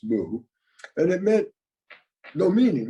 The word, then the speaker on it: Mu: it has no meaning so in the old Chinese it was woo in Japanese it's moo and it meant no